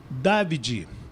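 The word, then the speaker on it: Davide: Ele, Wellon é David, David Antielote, né? Então, porque é italiano e falou assim, o pai dele chama de Dad, é de David, então não é David, não é David, é Davi.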